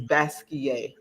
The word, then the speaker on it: Basquiat: a form of French you don't pronounce the T you know or the end so a lot of people say basket but is is basquier thank you I was